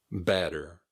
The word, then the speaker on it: batter: In the case of batter, B-A-T-T-E-R, it's pronounced almost like it's B-A-D-D-E-R.